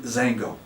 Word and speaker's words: Xango: you came up with the word xango fun to say two syllables punchy it's got go